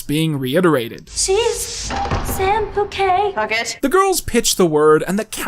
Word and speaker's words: Puckett: Bouquet. Oh, yes, we have a bucket. Pronounced bouquet, dear. Cat Valentine and Samantha Bouquet? It's Puckett.